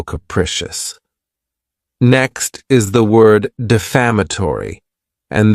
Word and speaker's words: defamatory: Next is the word defamatory. And this word has five syllables and the stress is on that second syllable.